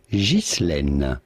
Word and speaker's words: Ghislaine: Now in French, this is normally pronounced Ghislaine. Ghislaine.